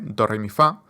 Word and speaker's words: doremifa: de la escala rápidamente doremifa que yo pienso como chocolate chocolate es como cuatro sílabas chocolate pero con acento al final chocolate d rifa rif